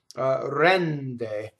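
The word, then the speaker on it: rende: Rɛnde. So rɛnde. So the N is doubled, the E is open, the final E is closed.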